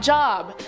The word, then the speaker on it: Job: The references to the behemoth come from the book of Job, not Job. As some of you pointed out, I was a silly little fool last time I said it and pronounced it wrong.